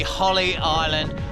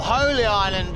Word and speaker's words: Holy Island: absolutely spunker this is the one and only Holly island or holy Island if that's the way you want to pronounce it up in the north east of